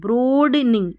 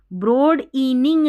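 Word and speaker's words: broadening: ब्रॉडनिंग ब्रॉडनिंग इ भी है यहां पर। देखें ब्रॉड इनिंग नहीं बोलेंगे हम। ब्रॉडनिंग ब्रॉडनिंग इके देखिए बिल्कुल साइलेंट सा हो जाएगा।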